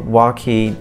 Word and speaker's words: Waukee: west toward adele and waukee is how you say the name of the city if you're not from around here w-a-u-k-e-e and here are the